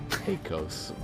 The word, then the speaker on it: Hakos: Now, I will say Heikos Bales, there's no goddamn way you'd pronounce the first name correctly. No one does. Heikos. Because it doesn't make sense to say Heikos in that situation, but that's how it's pronounced.